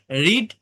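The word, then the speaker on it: read: ছড়ানো ছড়িয়ে দেওয়া অর্থাৎ রিড বানান এক থাকলেও ভিটু ও ভিথ্রি এর উচ্চারণ রেড হয় দেখেন এখানে লেখা আছে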